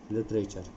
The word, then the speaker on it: literature: इसका उच्चारण देखेंगे लिटरेचर, टी यू का यहाँ पर उच्चारण है च, लिटरेचर।